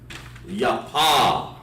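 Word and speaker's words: יפה: Now, beautiful, the Hebrew word for beautiful is yapa. Yapa. It's a good name for a woman. You want to call her beautiful, you say ya pa. Make sure I spell it right. Yeah, that's right. Yapa. But we're going to break the sound down. Ya, pa.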